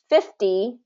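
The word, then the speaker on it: fifty: Now, with the other difference is the stress. So this is going to be first syllable stress, and this is going to be second syllable stress. So 50, 15.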